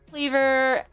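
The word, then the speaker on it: Kleavor: Okay, it's pronounced Cleavor.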